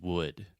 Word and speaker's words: would: would, but it's just would. So this is the other U sound, and it's just the sound, like push, should, could, look, book, would, etc.